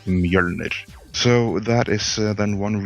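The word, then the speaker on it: Mjölnir: The proper pronunciation is Mjolnir. That's how you say it. Mystery solved. I'm only going to embarrass myself if I try. Don't. Mjolnir is fine for Americans, but the proper way of saying it is Mjolnir.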